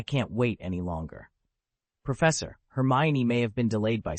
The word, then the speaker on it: Hermione: Her, May. Hermione, Aaron said, speechless. Your pronunciation is somewhat substandard.